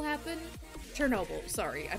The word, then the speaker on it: Chernobyl: was like the it's been 35 years since shin rebel happened chernobyl sorry i mispronounced it i'm surprised there's no superheroes in